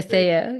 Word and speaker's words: Mencía: I Mencia. pronounce with the Spanish ceceo, but if you say Cethea. Yep. Mencía, Mencia. whatever, it's all the thing.